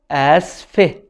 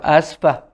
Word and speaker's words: آسفة: For a female in the first form of sorry, we can say asfe. Asfe. Asfe. As we said, you can say asfe or asfa in spoken Arabic, no problem.